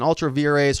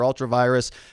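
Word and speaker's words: ultra vires: they started with this an ultraviores or ultravirus however you want to say it there are a number of different pronunciations but it says beyond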